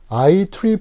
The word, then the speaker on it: IEEE: 그 다음에 IEEE, 그러니까 E자가 이제 3개 있는데 이걸 트리플이라고 읽습니다.